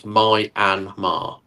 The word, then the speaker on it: Myanmar: It's literally pronounced in three syllables. Myanmar.